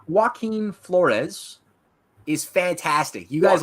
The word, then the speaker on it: Joaquin: One has gotten back with me, and I'm waiting for Joquez. How do you pronounce his name? Joaquin Flores is fantastic.